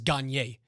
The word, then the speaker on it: Gagnon: Whatever, I do know Brad a G's name Gagnon spelling that pronounces Gagne.